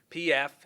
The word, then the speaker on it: Kempf: Our second officer involved is Officer Alex Kempf, spelled Kempf, and it's pronounced Kempf.